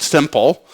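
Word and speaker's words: SIML: a subset of hasal I call S IML pronounced simple it's a very simple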